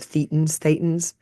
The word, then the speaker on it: thetan: I already forgot it the other day, of thetans. What is it? Just think of the word Satan and Okay, have a list.